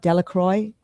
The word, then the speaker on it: Delacroix: Delacroix, Delacroix. Yes, perfect. You got the right pronunciation.